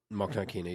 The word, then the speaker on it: Mokhnatkina: Mokhnatkina, yep.